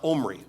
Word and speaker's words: Omri: His name is, it looks like Omri, like in the Bible, Omri and Ahab. Well, this is pronounced Omri.